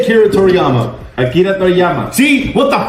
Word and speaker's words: Akira Toriyama: I can't pronounce it. Say Akira Toriyama.